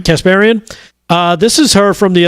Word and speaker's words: Kasparian: How do you pronounce her last name? Kasparian. Kasparian.